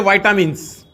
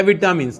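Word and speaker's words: vitamins: Protein ले सकते हैं वाइटामिन्स या विटामिन्स, जैसे प्रोनाउंस करो, वाइटामिन्स, ये भी लाइफलेस मॉलिक्यूल्स हैं but which combine together they form a life.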